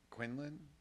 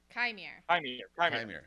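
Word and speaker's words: Qimir: Quinlan? Quinlan? Quin? Quimir? Chimere. Chimere.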